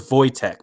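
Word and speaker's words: Wojtek: yeah world war ii his name was voytek but it's spelled like tech yeah and yeah he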